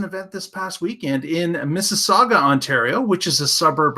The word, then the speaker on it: Mississauga: how to say that Mississauga Mississauga is two sagas how it's pronounced so we were talking